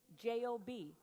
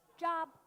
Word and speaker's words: Job: When I first got saved, J-O-B, how do you say it? Job. Hello? Nobody says, hey, I'm looking for a Job right now. No one says that. No one says, hey, did you get your Job yet?